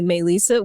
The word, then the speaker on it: Melisa: Spanish teacher one time she called me may Lisa which is what it is because that's what it is in Spanish and it's spelt that